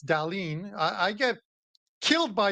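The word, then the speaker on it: Dahlin: number two uh um Andy says uh Rasmus d uh D and you don't say anything to him it's Dalene I I get killed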